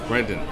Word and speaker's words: Brenden: It's E. Brenden, like Brendan Fraser.